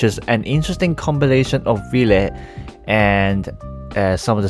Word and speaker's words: Wille: an interesting combilation of v and uh some of the Star Dragon cards especially the era NOA and yes it's pronounced V not will or Willie as most people like to pronounce it I'm sure the Eva